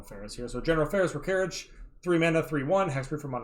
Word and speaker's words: Rokiric: It would be Rokirich, because this is definitely, like, Slavic pronunciation.